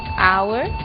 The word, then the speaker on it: hour: O som do H. Pronunciado desde a garganta, como em hotel, e mudo em 3 casos: hour, honest, honor.